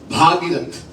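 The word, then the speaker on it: भगीरथ: और दिलीप के पुत्र भागीरथ, अब सही उच्चारण होना चाहिए, भागीरथ.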